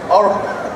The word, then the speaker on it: Orel: I said it wrong, did I? Orel? Oral. Moral Oral, right.